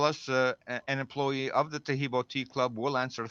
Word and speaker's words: Taheebo: The only tricky part is how to spell Taheebo, and Taheebo is spelled T like Tom, Aheeb like boy O.